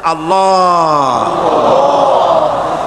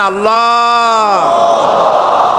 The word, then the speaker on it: আল্লাহ: আল্লাহ পাকের উচ্চারণটা হচ্ছে আল্লাহ পাকের নামের উচ্চারণ হচ্ছে আল্লাহ মুখটা একটু গোল হয়ে যাবে বলেন আল্লাহ আল্লাহ সুবহানাল্লাহ পৃথিবীতে বিভিন্ন জাতি তার স্রষ্টাকে তারা